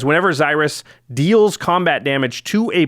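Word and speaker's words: Xyris: is that's a pronouncing I'm gonna say Cyrus like Cyrus but Cyrus what do you think I'm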